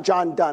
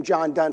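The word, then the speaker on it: John Donne: community it's why john john dunn is how you say his name john dunn says no man is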